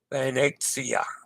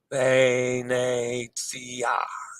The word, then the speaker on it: Venezia: Venezia. Venezia. Yes. Two pronunciations.